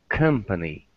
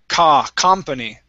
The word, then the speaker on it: company: For example, company is pronounced company and not company.